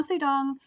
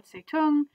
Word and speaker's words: Zedong: Now, Mao Zedong can be pronounced Zedong or Zetung.